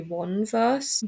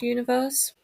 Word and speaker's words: 1VERSE: So today we're talking about universe or technically if you were to see it written out it would just be one verse but it is pronounced universe.